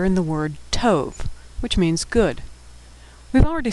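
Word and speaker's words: טוב: T O vet tove.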